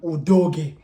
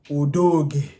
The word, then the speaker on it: Udogie: We are going to go with Pedro Porro, Christian Romero, Mickey van der Ven, and Udogie. Bear in mind, say it right. Udogie. You understand? It's a Nigerian name.